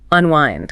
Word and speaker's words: unwind: The stress is on the second syllable, right? Unwind.